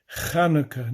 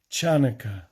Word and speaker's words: Chanukah: a h or variations the hebrew word is actually pronounced with a guttural sound chanukah not chanaka what does it commemorate